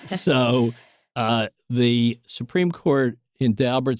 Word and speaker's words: Daubert: a case called Daubert, D-A-U-B-E-R-T. Some people pronounce it Daubert, but they're just snobs. Daubert it is.